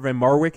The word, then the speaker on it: van Marwijk: Dutch manager in before we get to Bert van Marwijk am I am i pronouncing that correctly yeah that's so is it